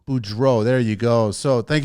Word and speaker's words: Beaudreault: never even tried last names how do you pronounce it Boudreaux Boudreaux there you go so thank you so much